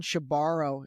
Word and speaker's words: Shebaro: And he said, yeah, she borrows the money and she never gives it back.